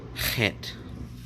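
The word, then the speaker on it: חית: when you see that it indicates that you make throat sound so that's why you pronounce it het then Tet then you'd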